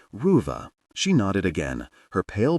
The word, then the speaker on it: Ruva: He was careful to pronounce it correctly, elongating the first part so it sounded like Ruva.